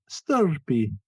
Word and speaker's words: Sturppy: And so the correct pronunciation of Sturppy is Sturppy.